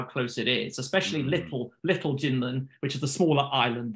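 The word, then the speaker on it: 金門: So so this island, it's called in English Kinmen, or it's pronounced Jinmen in Chinese.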